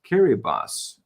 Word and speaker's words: Kiribati: the dateline goes around it is pronounced kiribas oh that's interesting i just can't get over that you can stand in two completely different years at the same time theoretically malcolm says that kiribati is a group of